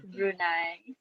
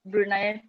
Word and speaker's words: Brunei: to first comment on the pronunciation of brunei it's not brunei it's brunei brunei and then i'd love